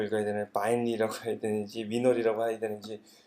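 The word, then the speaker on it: weinre: 웹 인스펙터 리모트 해가지고 위너리라고 이렇게 발음을 하고요.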